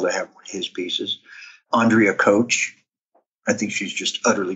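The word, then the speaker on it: Kowch: K o w CH it looks like couch but she pronounces it coach tremendous narrative in her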